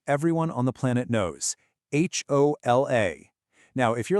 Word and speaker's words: hola: In Spanish, it's just hola. And figuring out the why behind that, well, that's our first key to cracking this whole thing. So, that one little silent letter in hola, it's the perfect lead-in